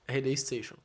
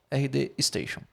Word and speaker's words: RD Station: é o rd Station é assim que pronuncia RD Station RD Station certo então esses dois